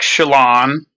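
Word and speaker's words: Chelan: I just I went like two years ago to Lake Shalon. Bel it's beautiful. It's It is pronounced that way.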